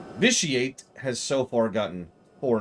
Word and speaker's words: Vitiate: this officiate excuse me we're supposed to pronounce the T vitiate has so far gotten